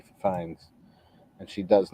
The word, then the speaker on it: Fiennes: it's Fiennes. Okay, I wasn't sure if it was Phineas.